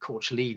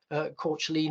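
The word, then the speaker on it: Caitlin: I think she was Irish in background, so I think Courtleen is probably nearer to the correct pronunciation of her name, although Dylan called her Kathleen, or even Cat for short.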